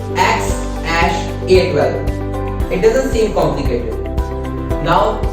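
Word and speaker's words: X Æ A-12: Musk himself revealed that X is just a letter. This symbol is pronounced as ash, and A12 is his contribution, which stands for Archangel 12 and aircraft. So the final pronunciation becomes X ash A12.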